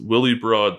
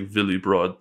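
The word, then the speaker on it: Willebrord: we've we owe um I know it's horribly pronounced Willie broad Snell it's probably pronounced like Villi broad Snell or something like that but uh Dutch astronomer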